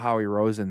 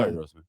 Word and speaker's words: Howie Roseman: I think it's about Howie Rosen, the guy that runs the team. I Exactly. mean, I say his name right? Yeah, Howie. Yeah, you did. It's No, Howie Roseman. Yeah, Howie Roseman.